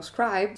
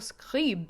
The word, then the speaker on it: Scribe: That's not the way this hotel's name is pronounced. I was severely humbled when I was at the Lumière Museum and they were like, Hotel Scribe. And I was like, Scribe?